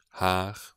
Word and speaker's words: har: It's often is pronounced like an E, but also it has often an A sound, particularly in end of words and before R's. For instance, here, this word I would say der, har, jeg, rene.